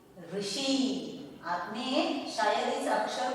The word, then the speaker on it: ऋषि: से भी पढ़ा होगा, आपने इसको रू भी बोला होगा, लेकिन ऐसा नहीं होता है। जब आप रू बोलोगे तो वो मराठी में हो जाएगा, और अगर री कहेंगे तो वही शुद्ध उच्चारण है। हिंदी में इसे री ही कहना है।